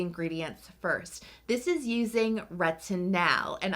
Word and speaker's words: retinal: first this is using retin now and I am pronouncing the a in this because this is actually different than your traditional retinol spelled with an O these are not two